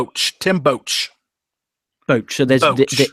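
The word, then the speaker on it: Boetsch: this imbecile's name tim boats boat so there's the e and the s the e and the s don't count okay watch tim boach um just to let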